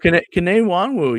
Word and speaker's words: Kene Nwangwu: Kene Nwangwu, yeah.